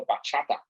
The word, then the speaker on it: bachata: that we like to do it's called the bachata yes that's how you pronounce it yes it is a dominican dance